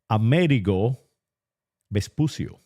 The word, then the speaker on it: Amerigo Vespucio: Americo Vespucius, or how I pronounce it in the Castilian language or the Ibero-Visigothic language, Amerigo Vespucio.